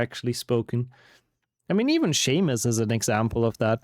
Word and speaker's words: Seamus: Like, if you read that name for the first time, you wouldn't really think that's gonna be pronounced Seamus.